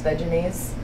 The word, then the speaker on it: Vegenaise: know how to pronounce vegenaise it's based off a vegetable mayonnaise so if you were to say vegetable in a mayonnaise but since everyone who's